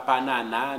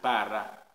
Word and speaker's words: Paraná: C'est pas Panana, ni c'est Parara, c'est pas Palana, c'est Paraná. Parce que à final, là, un accent tonique sur lui.